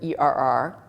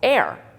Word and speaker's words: err: with an error but i like to say er because i think it i think it's the preferred pronunciation but even if it